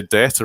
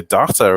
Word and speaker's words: data: generation called data and we tend to say data in the uk but across the pond and you you tend to say data as a result as a as a default rather um but the